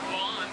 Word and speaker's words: Lon: My name is Lon, spelled L-O-N, pronounced like the grass in your front yard, and I'll be your game driver for this, our 2-week photo safari to the Harambe Wildlife Reserve.